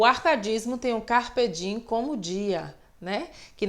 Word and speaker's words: carpe diem: como dia né que na realidade a pronúncia correta é o dia e me só que a gente coloca realmente não costuma dar em fazer esse fonema m então a gente fala fugere urbem carpe diem e assim por diante